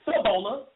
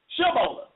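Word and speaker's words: Shibboleth: One person pronounced it Sibola. Another person pronounced it Shibola.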